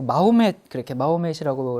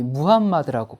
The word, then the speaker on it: 무함마드: 여러분 우리가 어렸을 때는 이제 그 마호멧이라고 이렇게 배웠죠. 근데 이제 이건 영어식 발음이고요. 요즘은 이제 국제적으로 아랍식 원래 발음인 이 무함마드라고 그렇게 이제 불리게 돼서 그렇게 부르도록 하겠습니다.